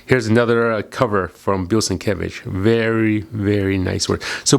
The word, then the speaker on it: Sienkiewicz: Here's another cover from Bill Sienkiewicz. Very, very nice work. So Bill Sienkiewicz is right over, let me show you how his name is, right here, right here. Bill Sienkiewicz.